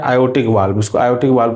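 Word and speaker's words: aortic: नाम क्या होता है, आयोटिक। क्या होता है, आयोटिक वाल्व। आर इसमें साइलेंट हो जाता है, इसलिए इसको हम क्या बोलते हैं, आयोटिक वाल्व बोलते हैं।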